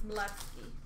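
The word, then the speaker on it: Chmelevski: Maybe the C and H are silent. It's Malevsky.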